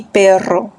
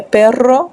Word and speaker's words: perro: Churros, pero e perro são pronunciações diferentes. Uma tem uma só r, né? E outra é perro, que são duas Rs.